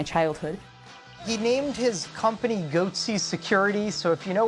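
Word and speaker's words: Goatse: and they're getting the goatsy picture they're called goatsy security is that I pronouncing that correctly yeah that's right we're analyzing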